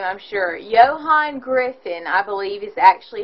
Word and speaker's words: Ioan Gruffudd: Ioan Gruffudd, I believe, is actually how you say his name, though if you're reading it, it's Ioan Gruffudd.